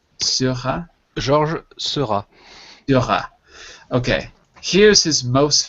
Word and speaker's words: Seurat: Georges Seurat.